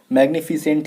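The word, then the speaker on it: magnificent: अब इसको मैग्निफिसेंट को कुछ और मत बोलना, मैग्निफिसेंट को कुछ और मत बोलना, मैग्निफिसेंट ही है ये, ठीक है ना।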